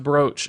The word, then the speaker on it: brooch: brooch of the martyr brooch is a funny way to say it though I've always thought why is it pronounced brooch if there's two O's it never made sense to me just like what are